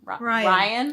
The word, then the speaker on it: Rion: It's August 2558, and her name's Rion. Ryan. It's just Ryan. It's spelled Rion.